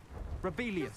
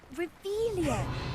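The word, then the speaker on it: Revelio: You're Rebellious. saying it wrong. Ugh, Revelia. Much better.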